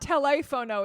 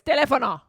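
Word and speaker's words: teléfono: It's not telefono, it's telefono. That's what you just said. No, basically. you missed it. I dropped the last I syllable.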